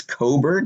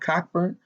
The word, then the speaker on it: Cockburn: to sumo and kofi i think it's coburg not cockburn like i say pronounce his name um they are both